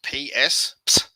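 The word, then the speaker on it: ψ: and then c so this is actually pronounced ps um when that's in the middle of a word that's easier or at the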